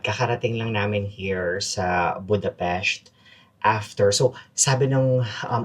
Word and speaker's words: Budapest: Kakarating lang namin here sa Budapest after So sabi nung um Uber driver namin, the way you pronounce it daw is Budapest. Hindi siya Budapest. Budapest whatever.